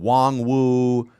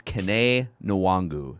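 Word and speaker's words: Kene Nwangwu: whoever the broadcaster was last week was saying wong wu and somebody else had a pronunciation calling him kenny it's kane nuwangu is how you pronounce it so how many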